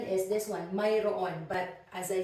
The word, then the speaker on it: mayroon: with this one actually in spoken Filipino we say meron so but actually the correct pronunciation is this one Myron but as I said